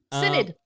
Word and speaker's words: Synod: Is that how you pronounce that? Synod? Synod? I believe so. Synod feels Synod, correct.